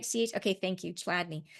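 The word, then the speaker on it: Chladni: Did I spell it right? Ch. Okay, thank you, Chadney.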